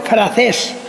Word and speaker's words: Francés: Muchos dicen francés, digo no, francés no, francés, con C, acento en la E, francés.